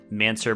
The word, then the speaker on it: Mansour: to YouTube and searching mansur barami and it's spelled like man sour uh Wimbledon so let's